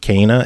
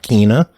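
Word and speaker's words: Kena: cana bridge of spirits which i learned is pronounced kana and not kina yeah yeah lots of people had to stick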